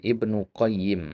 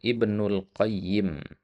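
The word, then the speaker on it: ابن القيم: Kalau dikata ya nama itu antum sebutkan aljauziyahnya maka antum katakan Ibnu Qayyim tanpa alif lam. Ya, tapi kalau ya pakai alif lam maka antum katakan Ibnul Qayyim.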